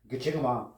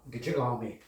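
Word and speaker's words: Gichigami: It's pronounced Gitchigami, Gitchigami, Gitchigami, Gitchigami.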